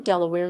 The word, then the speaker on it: Delaware: name of the barony later in earldom is pronounced as in the current spelling form delaware listened to yell at where and is thought